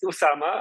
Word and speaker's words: Oussama: right Indonesia we do we do and it's pronounced the same it's Usama uh but in when when you write in